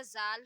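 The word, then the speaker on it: ذ: एक बात याद रखिएगा, इसमें हम जिस चीज पर भी नुक्ता लगा रहे हैं, चाहे वो रा हो या जाल हो, वो आवाज जा की ही निकलती है यहाँ से।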